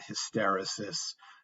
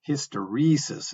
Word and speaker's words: hysteresis: that's a long e hysteresis and that's where you put the um the emphasis is on that syllable with the second e as a long vowel sound okay so here's a